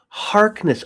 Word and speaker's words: Harkness: Oh yeah, Mark Harknith knows the stuff too. So So he's gonna join the exercise. Oh, it's Mark Harkness. I've been saying it wrong all this time and not intentionally.